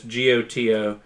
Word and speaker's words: Goto: It's spelled like it's a play on gato, yes, but it's Goto, like goto roboto.